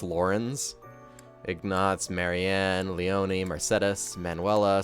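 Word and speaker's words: Lorentz: are pronounced weird lawrence i would say it's lorenz but it's apparently it's lauren's ignots marianne leone mercedes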